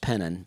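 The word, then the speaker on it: Penton: spelled p n t o n but it's pronounced penon and it's just the pennon Church of God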